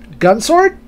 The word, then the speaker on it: Gun X Sword: look at it written, Gun Sword. My understanding that sometimes the X is not pronounced, because we have Namco X Capcom or Namco Cross Capcom.